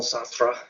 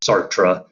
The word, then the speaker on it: Sartre: that's all right um sartre you kind of have to spit a bit when you pronounce french names i'm just not really good at that um americans sometimes just say sart or sart-tre that's fine too i'm not one to